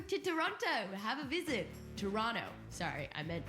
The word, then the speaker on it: Toronto: Toronto have a visit Toronto sorry I meant Toronto you don't pronounce the T learning thanks to everyone